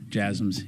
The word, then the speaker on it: JASSM: There's been some reports about JASSMs, if I'm pronouncing that correctly. The last question, yes, JASSMs. Yeah, you're pronouncing it correctly.